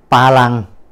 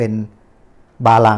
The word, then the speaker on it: บารัง: เล่น นี้ นะ ครับ เขา เรียก ว่า มี ปลา ลัง นะ ครับ หรือ ว่า บาง คน ก็ ออก เสียง เป็น บาลัง นี้ นะ ครับ ปลา ลัง หรือ